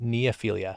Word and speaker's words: neophilia: How do you pronounce Neophilia. it? Neophilia.